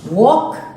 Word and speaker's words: walk: Walk, talk, straight, more, caught, calm. So in this word here, in walk, L is silent.